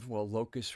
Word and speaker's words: locus: A locus point is locus kind of rhymes with focus.